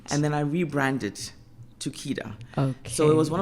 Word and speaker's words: Kedar: Is it pronounced Kedar? Cedar Guard. Okay, Cedar but Guard. the company's Kedar.